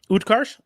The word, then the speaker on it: Utkarsh: Utkarsh?